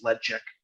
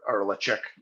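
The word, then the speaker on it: Ledaig: Being that this is peated, it is known as Ladag or Lacheg or Lacheg. Yeah. Ladag is how I started pronouncing it. Lacheg is how I pronounce it now, but apparently it's Ledchek or Lachek when it comes down to it.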